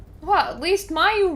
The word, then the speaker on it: Mayu: Well, at least Mayu rhymes with where are you, so that's nice.